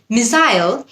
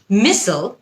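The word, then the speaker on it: missile: মিসাইল হচ্ছে British উচ্চারণ, মিসল হচ্ছে আমেরিকান উচ্চারণ।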